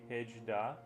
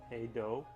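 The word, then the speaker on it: hej då: You would pronounce it like hey do. You would pronounce it like hey do. Oh, the to say goodbye. Hey do. Hey do. Not hedge da.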